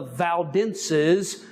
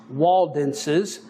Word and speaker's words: Waldenses: And they are the ones who were called the people of the valleys, the Valdenses, which also is pronounced Waldenses.